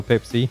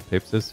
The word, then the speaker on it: Pepsis: to use that skill pepsi or pepsis if you want to pronounce properly you have to put